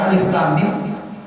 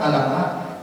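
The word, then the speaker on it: الم: Coba kita belajar agama tanpa guru, bisa-bisa itu ayat pertama dalam surah Al-Baqarah bacanya alif lam mim, kita baca apa? Alamah, ya, alamah.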